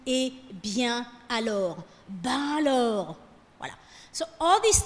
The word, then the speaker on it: ben: So it's not ben, okay? Americans say, is that ben? No, there's no ben. It's ben.